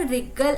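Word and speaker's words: wriggle: बच्चों ये जो डब्ल्यू है, आप इसको रिगल न मत पढ़ना, डब्ल्यू साइलेंट है, ऐसे पढ़ेंगे रिगल एंड गिगल with Glee.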